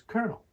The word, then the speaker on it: colonel: colel nello and then English borrowed it from the French and pronounced it Coronel with an R so we have the modern day spelling with an L but the pronunciation is Colonel here's a sentence example